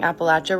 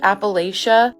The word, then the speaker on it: Appalachia: And also, some of you are telling me that I'm pronouncing Appalachia wrong. I used to pronounce it like Appalachia until I was told by a local that it's pronounced like when you're saying throw an Appalachia.